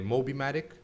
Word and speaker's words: Mobimatic: Mobimatic? That's the way I'm pronouncing it, yeah.